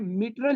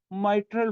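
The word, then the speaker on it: mitral: तो ये आप लोगों ने प्रोनाउंसिएशन याद रखनी है, मिट्रल नहीं कहना, माइट्रल वॉल।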